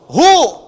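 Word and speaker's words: هو: dari Hua singkatan dari Hua hu disingkat Hua Kalau Anda wakaf membaca kalimat Bahkan dalam bahasa Arab apalagi Alquran berhenti pada kalimat Hua maka WAnya enggak bunyi bacanya hu WAnya enggak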